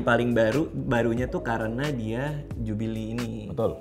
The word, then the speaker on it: Jubilee: Ini Rolex Pepsi yang paling barunya tuh karena dia Jubilee ini. Betul. Bacanya Jubil. Gue sih bilangnya Jubil. Jubilee. Tapi tulisannya Jubilee. Ya kalau Inggrisnya kurang bagus ya Jubile bilangnya. Jubilee. Gitu aja.